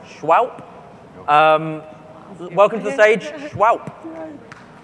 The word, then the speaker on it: Shwowp: They're pronounced Shwowp.